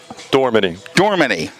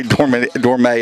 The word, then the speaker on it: Dormany: It is Dormany. I always say Dormay, and I'm like, I'm Dormany.